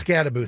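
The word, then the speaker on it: Skattebo: him and uh what Sabado or however you pronounce the running back. Uh the Scataboo. Scataboo.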